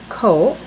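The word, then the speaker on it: 口: over a few here's one that I was pronouncing wrong forever so hopefully I didn't bring it up in any other Vlog it's co and it means mouth simple little box and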